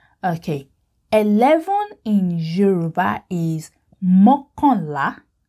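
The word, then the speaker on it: mọ́kànlá: Okay, 11 in Yoruba is mokonla. Mokonla. Mokonla means one more than 10.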